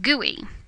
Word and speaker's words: GUI: a graphical user interface or GUI pronounced GUI this simply means that